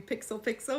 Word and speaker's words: Pixel x Pixel: everyone you're listening to pixel pixel where the x is silent but our love for games most definitely isn't this is episode 103 happy New Year first episode of 2023.